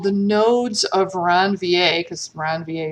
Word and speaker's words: Ranvier: nodes of ranvier because around va is french so you know french hate to pronounce the letters at the ends of words uh and this is